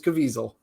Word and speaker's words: Caviezel: sounds of freedom uh Jim Caviezel did I pronounce that right yes it is caviesel right nice um and uh it's well Dennis